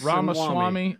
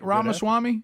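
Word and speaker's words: Ramaswamy: Ram Ramy Swami Ramwami Ramaswami. What's the first name? VC Ramaswami.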